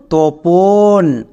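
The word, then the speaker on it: Tapan: টি এ পি এন তপন। এবার ইংরেজিতে এই নামটাকে তাপান উচ্চারণ করা হয়। তাই আমি একদম শুরুতে বললাম যে তপনও নাম। তাপানও নাম। তাপানটা হচ্ছে ইংরেজিতে উচ্চারণ।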